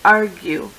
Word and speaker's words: argue: Intrigue plague argue h i noticed that you actually say the U when you say argue where the rest of the words the U is silent this is why arue